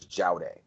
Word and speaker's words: Judy: Judy, the basic idea I think of Judy was and it's pronounced, and they bring it up in the Secret History, was Jowday, which was a Sumerian god.